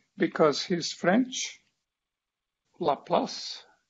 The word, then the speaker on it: Laplace: fourier because he's french laplace and other frenchmen pronounce la plus that there is this